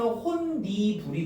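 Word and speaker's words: 홑이불: 자, 그다음이 디귿이 니은의 영향을 받아서 최종 발음은 혼니불이 되는 거야.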